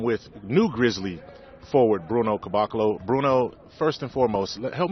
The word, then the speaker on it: Caboclo: I'm with new Grizzly forward Bruno Caboclo. Bruno, first and foremost, help me. I want to make sure I'm pronouncing your last name correctly. Can you pronounce it for me? Caboclo.